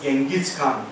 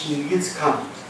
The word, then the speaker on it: Chinggis Khan: And then he entitled himself as Chinggis Khan. We are calling wrongly as Genghis Khan, the pronunciation is Chinggis Khan.